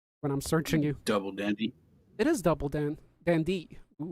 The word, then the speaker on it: Dande: the same name it is okay so it's dandy not donde well it's spelled d-a-n-d-e or d-a-n-d-y d-a-n-d-e double dandy so